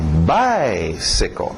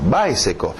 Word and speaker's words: bicycle: Então, bicycle. Morre no final. Bicycle.